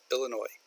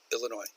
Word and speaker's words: Illinois: for the state of Illinois it is an S that the S is silent we do not say Illinois's at least some people